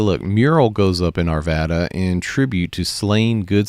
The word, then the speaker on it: Arvada: so looking just in arvada i think it is locally pronounced arvada but for some reason i still can't get that i always say arvada just like i say